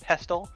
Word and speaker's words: pestle: also looked it up silent t is the proper pronunciation of pestle i don't know why